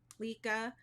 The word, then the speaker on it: Lykke: So I had to ask how to pronounce this company, and I believe it's Lykke. But they said that everyone mispronounces it Lykke.